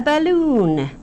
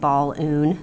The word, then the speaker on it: balloon: cute thing here a balloon we don't say it ball oon that sounds weird we say balloon so balloon can be